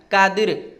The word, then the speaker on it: कादिर: में ले लेते हैं जब हम कादिर पढ़ रहे हैं कादिर द के बाद तुरंत र का उच्चारण कर दे रहे हैं कादिर तो ये खींच